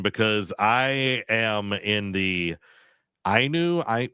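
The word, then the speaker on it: Ainu: Uh, it was a different one because I am in the IU. I How do you pronounce that? Oh, the Inu.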